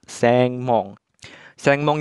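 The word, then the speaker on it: 専門: gerbang dibacanya Mong sehingga dua kanji ini dibacanya seng mong itu menyatakan jurusan bidang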